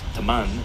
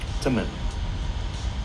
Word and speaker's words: temen: And one more small difference we can see is that the word for friend, teman, is pronounced more like temen.